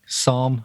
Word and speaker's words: Somme: I'm correct in pronouncing That's Somme, that, right? That's how you pronounce it. Somme. As sommelier.